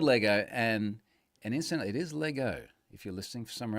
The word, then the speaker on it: Lego: and instantly it is Lego. If you're listening for somewhere else and you're saying, why isn't he saying Legos? It's because I'm saying it right.